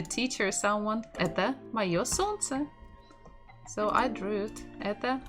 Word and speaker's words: солнце: So the stress is on the first syllable. Солнце.